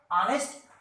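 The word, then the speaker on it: honest: देखने में यहाँ पर जो ये वर्ड है वो एच से शुरू है लेकिन एच साइलेंट होता है। ये भी जो वर्ड है एच से शुरू हुआ है लेकिन वो एच साइलेंट होता है। हम इसे एयर पढ़ते हैं।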